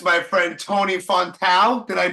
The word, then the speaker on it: Fontão: I have, if people don't already know, it's my friend Tony Fontão. Did I pronounce it right?